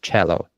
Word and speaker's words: cello: It's the Italian uh musical instrument. That's why it's pronounced cello.